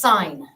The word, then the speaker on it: sine: first one the first the word is sign and it's spelled this way and the reason it's